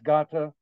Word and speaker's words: Gata: Olav's Gata. And Gata is spelled like gate, G-A-T-E, and in Norwegian translates to